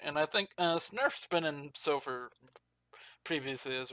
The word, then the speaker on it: sgnurf: Signurf? G silent. Snurf? G is silent. Yeah. Snurf.